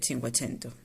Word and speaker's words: cinquecento: el 480 y el cinquecento se escribe así y se dice así no hay otra manera